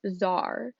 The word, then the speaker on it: czar: ruled by a czar spelled two different ways t-s-a-r-c-z-a-r both pronounce czar and it's the absolute